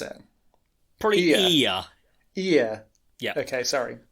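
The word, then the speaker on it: Iya: Ia. Yeah. Okay, sorry. More of a long E, so it doesn't sound like the things on either side of your head.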